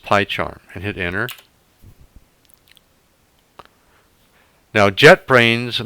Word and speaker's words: PyCharm: slash y charm and it's pronounced pie charm and hit enter now